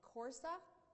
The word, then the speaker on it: Coursera: It's I don't know if I'm going to pronounce it, but Coursera. Coursera, are you familiar with that?